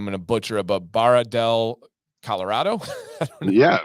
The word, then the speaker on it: Barra del Colorado: All right, and then Ken says that his wife's family is from, I'm going to butcher it, but Barra del Colorado. Yeah, Barra del Colorado.